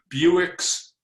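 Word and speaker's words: Bewick's: It's a Buick's wren. Wow. What kind of sound does it Not make? spelled the same way, not spelled like Buick, the car, but it's pronounced that way.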